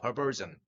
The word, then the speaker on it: perversion: 즈 발음을 해야 되죠. perversion.